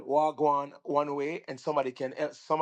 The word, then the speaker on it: wagwan: And it's spelled WAH, and then the other word is GWAAN. Wagwan. That means what's going on.